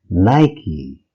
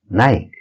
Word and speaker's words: Nike: It's pronounced as Nike or Nike.